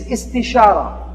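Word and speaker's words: استشارة: The second step of a decision-making process is istishara. It sounds kind of like it rhymes with istikhara.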